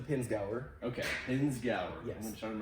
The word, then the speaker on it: Pinzgauer: me but it's like pines peens yeah so it's it's the pins gower okay pins gower yeah